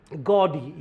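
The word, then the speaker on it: gaudy: गॉडी या औ की आवाज आएगी इसमें।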